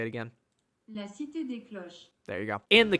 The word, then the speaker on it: La Cité des Cloches: La Cité des Cloches.